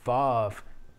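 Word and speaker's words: וָו: certainly does seem that it's pronounced varve with a v we have uh poetry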